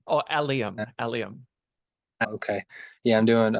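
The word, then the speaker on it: allium: Roots growing onions which I think are called alums if I'm pronouncing that right probably not oh alium alium okay yeah I'm doing roots and the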